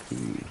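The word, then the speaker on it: Cay: Causeway Key by the way. Yes, that is how you pronounce that word. C A Y is pronounced key.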